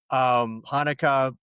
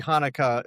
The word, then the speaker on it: Hanukkah: because it's the Hebrew word, not let's see, it is Chaf, that first letter is Chaf. So which is a that's got that sound.